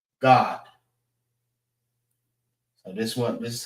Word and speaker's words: Gad: But Gad is Gad, and in the Hebrew, it's God.